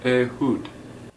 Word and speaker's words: Ehud: It is, in fact, pronounced A hud.